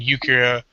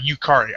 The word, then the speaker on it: Yukari: are just phenomenal and yukiya or or not yukira but but yukihar or sorry yukari i couldn't pronounce her